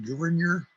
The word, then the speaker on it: Gouverneur: As far as I know, his name is pronounced Gouverneur.